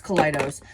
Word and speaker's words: Kaleidos: Most of them are from Kaleidos. They are Kaleidoscope. How do you say that brand? I think it's Kaleidos. Yeah, it's Kaleidos.